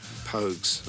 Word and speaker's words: Pogues: Pogues. I don't know how the right way to pronounce it in French, but Pogues, I'd say.